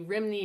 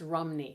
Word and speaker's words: Rhymney: And apparently Rhymney is actually pronounced Rumney.